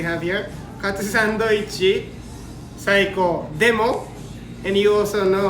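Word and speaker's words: でも: And then but, demo, like a demo video, demo. Same spelling, D-E-M-O. We pronounce it demo.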